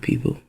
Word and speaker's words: people: And she said the O is silent.